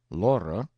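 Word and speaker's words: Lore: Laura, two syllables, was a water nymph who used to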